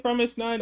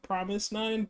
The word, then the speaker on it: fromis_9: I say Promise9. I know that it's more like Promise9, but characters and I don't know, like letters and stuff with Korean.